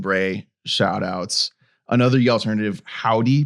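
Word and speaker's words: Hovvdy: Another alternative, Howdy, but spelled with 2 V's.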